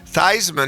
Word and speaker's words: Theismann: it was quarterback Joe Theismann forever until he became a senior and then he changed the pronunciation of his name to Theismann as in Heisman.